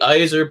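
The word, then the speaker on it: Yzerman: days is the plan the izer plan now it is a cute buzzword right uh because it rhymes with eyes or man um but more importantly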